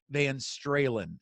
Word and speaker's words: Van Stralen: this week is Peter maeín Strahan and yes that rhymes with Van Halen peter is a successful